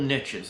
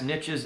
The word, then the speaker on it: niches: Collectible niches. And yes, niches is correct. I'm constantly told that I'm pronouncing it wrong.